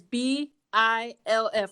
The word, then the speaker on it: B.I.L.F: So this week we read the story The B.I.L.F, and it's B.I.L.F, like MILF, but like with a B.